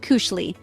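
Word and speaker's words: koselig: At the heart of Norwegian culture lies the concept of kosilig, pronounced cushi, which transcends simple translation, but encompasses coziness, contentment, and connection.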